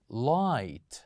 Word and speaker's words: light: we have here is light light say after me light so here we kept G and H silent letters the same goes here